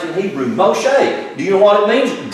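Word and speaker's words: Moshe: machete that's it that's how he's name is pronounced in Hebrew mo shake do you want to means drama bottled water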